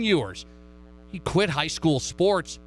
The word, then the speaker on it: Ewers: texas quarterback quinn ewers let's say it right quinn yours he quit high school